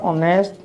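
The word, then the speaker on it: honest: এইটো অন্য এটা শব্দ চোৱা অনেষ্ট। অনেষ্টটোত আমি হনেষ্ট বুলি কওঁ নেকি? নকওঁ নহয়। হ উচ্চাৰণ নাহে, ইয়াত উচ্চাৰণ আহিছে। অৰ্থাৎ ইয়াত এইচটো এই দুইটা শব্দতে এইচটো কি হৈ আছে সাইলেন্ট ইয়াৰ নিজস্ব ৰূপ মানে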